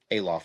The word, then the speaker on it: Olaf: Alof is how it's pronounced.